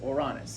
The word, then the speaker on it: Uranus: It's pronounced Uranus. It's a Greek name.